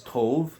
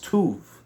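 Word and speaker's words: טוב: word tov good that it can be spelt or pronounced two different ways in the torah example one time it's spelled with a column which makes it sound as tov and another time the vowel is used uh sharok which means which can be pronounced as tuv so we find this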